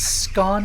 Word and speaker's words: scone: Silia says it's scone because it's pronounced like the word stone.